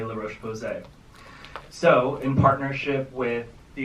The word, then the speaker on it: La Roche-Posay: But how do we pronounce it? La Roche-Posay. The name correctly. Case in point. Y'all want something that's really good for your face? Get you some of this roast pussy.